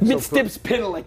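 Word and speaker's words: Mxyzptlk: So- how do you say Mr. Mixoplick? Mitstips is what I was taught in the 1970s by my good Mixoplick, friend Philip Hecht, Mixoplick.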